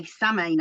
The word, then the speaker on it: Samhain: And we say samine. Actually, people say, "Oh, you've got to say sin." Well, all my life in Celtic world, we've said, so don't tell me how to say it.